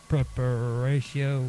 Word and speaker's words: Praeparatio: And now I'm going to go on to Preparatio Evangelica. Now, that's spelled Praeparatio, and then Evangelica, Evangelica.